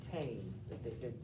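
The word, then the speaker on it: ta'en: It's taken, but you say tame. You only hear one syllable.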